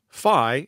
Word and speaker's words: phi: Phi is a Greek letter that rhymes with my and pi and chi.